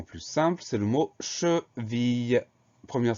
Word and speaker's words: cheville: Le mot suivant est nettement plus simple, c'est le mot cheville. Première syllabe che, CHE sans problème. Deuxième syllabe ville. Alors attention, on entend bien le son I.